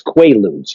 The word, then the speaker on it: Quaaludes: I think they were mispronouncing Quaaludes. It's Quaaludes, guys.